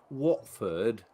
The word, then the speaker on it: Watford: who was it kid Watford what Watford Watford oh sorry as you guys like to say Watford there's no h we're all Posh here we've got to say Watford I did a thing